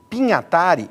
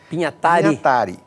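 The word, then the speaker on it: Pignatari: Haroldo, é claro, e o mais relevante, Décio Pinhatari, e essa é a pronúncia correta. Pinhatari. Décio Pinhatari, formaram esse grupo de poetas concretistas, que queriam o quê?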